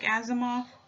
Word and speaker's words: Asimov: name as a Isaac Asimov I think that's how you pronounce his name well anyways let's see